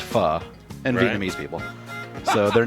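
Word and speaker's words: Phở: okay but of course all foodie and hipsters know that it's pronounced pha and vietnamese people so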